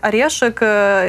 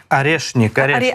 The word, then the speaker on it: Орешник: якою тепер називаю Путін її орешик яка орешник орешник важливо дійсно це назву вимовляти правильно тому що варіантів Я